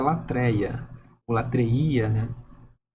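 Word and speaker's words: λατρεία: Diz o seguinte, olha, se pronuncia latreía e significa originalmente serviço, tá bom?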